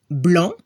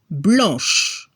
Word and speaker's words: blanc: En francés, si no escucha la C al final, como blanc, se transforma en CHE al femenino. blanc, blanche. Pero si escuchamos la C al final como public, se transforma en Q-U-E al femenino. Public, public. La clave está en el sonido.